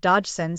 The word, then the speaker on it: Dodgson: in the story it is said that the pronunciation of dodgson sounds very much like dodo and he had a slight stutter often introducing himself as I am Dodson this is not a disrespect towards stuttering it